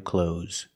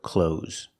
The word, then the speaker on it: clothes: buy some new clothes just use the zebra sound Z at the end so if you want to sound more natural and sound like a native speaker pronounce this word clothes don't try to make the th sound it's not clothes this